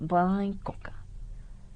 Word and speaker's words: Bai Coca: Esta A con una rayita abajo quiere decir que se pronuncia con la nariz, entonces Bai Coca.